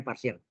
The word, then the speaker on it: partial: Inggrisnya parsial parsial integral partial tulisannya partial parsial integral bacanya parsial tulusannya partial Oke yaitu Integral udv